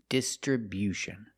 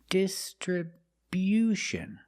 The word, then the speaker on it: distribution: We move the stress to the first and third syllables. The first syllable, dis. Distribution. And the stress on the third syllable too, with bu. Distribution. Stress on the first and third syllable. And remember, it's not distribution, it's distribution. Make that u sound after the b.